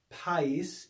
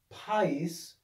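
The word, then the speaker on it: παΐς: diphthong but it's not this is actually a two syllable word and alpha yota in this word is not a diphthong and so there's a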